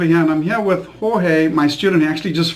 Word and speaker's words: Jorge: So, Jorge, did I pronounce that correctly?